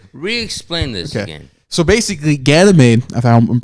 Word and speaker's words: Ganymede: And apparently, is it Ganymede? I can never pronounce it. Ganymede.